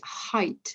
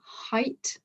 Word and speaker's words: height: There is an exception though, which is the word height. So it's still it's still written as E-I-G-H, but it's got the I pronunciation. So height, that is one of the exceptions.